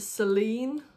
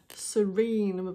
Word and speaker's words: Serene: with me I think I kept calling it Seline but it's actually Serene uh I know sorry